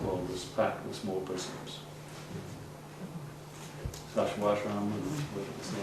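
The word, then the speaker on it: Sacsayhuamán: Sashwashram, is the right way to pronounce it, in Peru.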